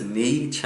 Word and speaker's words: Nietzsche: Nietzsche, which, you know, to help with the pronunciation, just Nietzsche, like cha-cha and your knee, because the way it's spelled for Western audiences is hard to pronounce, but Nietzsche, his amazing work was Beyond Good and Evil.